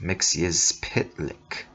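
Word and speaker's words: Mxyzptlk: Mr mixes pidlick his consonant heavy surname is pronounced myxius pitlik and he is Superman's weirdest enemy stealing the title from Bizarro mixes pitlick hails from a fifth dimensional world called zerf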